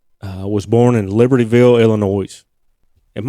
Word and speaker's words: Illinois: was born in libertyville illinois am i supposed to pronounce the s at the end of illinois no i think it's just illinois okay sorry about that